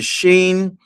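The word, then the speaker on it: שׁ: and the 22nd letter because the sheen uh it has two different pronunciations. you have the sheen and you have the scene of of pronunciations.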